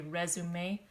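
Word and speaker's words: résumé: when we're looking here we say resume because this word is French for a paper you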